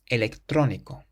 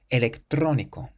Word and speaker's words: electrónico: The next word has an accent over the O in the middle. Electrónico. Electrónico. It means electronic.